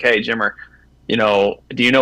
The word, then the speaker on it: Jimmer: call me GMO because they can't really pronounce the E R, right? So, they can't say Jimmer. So, because of that, they say Jimmo.